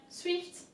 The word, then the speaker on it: swift: that we have swift swift in french swift is actually the same there's a little bit of less of an emphasis on the eye but it's pretty much the same as in english so let's go ahead again